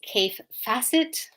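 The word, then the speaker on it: Kaffe Fassett: can pronounce properly but i was told it's cafe facet caffe facet coffee guy anyway a puzzle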